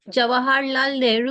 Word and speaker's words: Jawaharlal Nehru: And in 2011, she received her PhD from, I'm hoping I'm pronouncing this correctly, Jawaharlal Nehru. Nehru Sorry. University. Jawaharlal Nehru University.